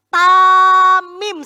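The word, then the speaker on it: תמים: Dalam bahasa Ibrani kata tidak bercela itu dibacanya tamim.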